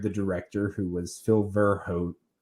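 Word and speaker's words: Verhoeven: director who was Phil verhot I would believe you pronounce it vir Hoven verhoven something like that um and so he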